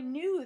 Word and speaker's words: knew: which is new now the K is silent so it sounds just like the new up here this new remember means